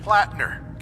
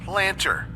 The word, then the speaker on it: Plattner: Like this one glitch where Sergeant Plattner keeps getting pronounced Planter.